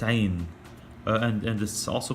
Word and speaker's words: ع: the following episodes so the letter on its own is pronounced ein and this is also